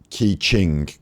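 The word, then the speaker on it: Keqing: talking to you um q is pronounced cha in their names so ki ching it is it's like kaching like the sound that a gacha machine makes like the sound that a slot machine makes kaching that's where that that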